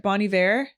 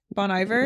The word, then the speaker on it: Bon Iver: that artist B how do you say it Bonnie ver Bon Iver yeah this is kind of like that like